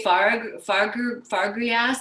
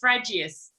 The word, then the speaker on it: Fragius: I want to say Fargrias. That's probably butchering your last name. I can't wait to hear how you say it. It sounds like that lettuce that's like really frilly that you eat in French restaurants. Not quite. It's Fragius.